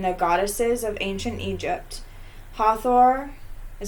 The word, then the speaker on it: Hathor: the love between the goddesses of ancient Egypt Hathor is how you say it Hawthorne's Hathor Hathor isis basta sac Matt I know that's